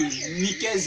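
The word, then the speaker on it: Nicaise: Tu tapes seulement que Nikez, qui s'écrit avec le N-I-C-A-I-S-E. Et le s'écrit avec.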